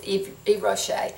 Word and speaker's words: Yves Rocher: I remember looking it up on the pronunciation, and that's how I heard was Yves Rocher. So that's what I'm going to go with.